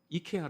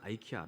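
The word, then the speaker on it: IKEA: 하더라는 으 그 아이키아 이케아 라고 보통 우리나라에서는 바로 많은데 외국에서 아이키아 라고 발음을 합니다 우리 나이키 하라고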